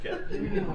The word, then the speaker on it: Kay: I just realized you pronounce it K. Yeah, it is pronounced K.